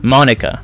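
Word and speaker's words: Monika: It's Mon, like Pokemon, and Ika, Monica.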